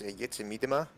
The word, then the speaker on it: Jitse Miedema: Well, in typical Dutch, it's Jitse Miedema, but a lot of English and American people are like Jitse Miedema.